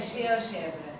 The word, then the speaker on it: GeoGebra: Yeah, sure, but how do you pronounce it, Geogebra in Portuguese? We say Geogebra.